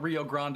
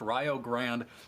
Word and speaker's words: Rio Grande: We are going to be back here on Game 2 between Rio Grande, not Rio Grande. I promise we are not saying it wrong. It is pronounced Rio Grande versus Springfield.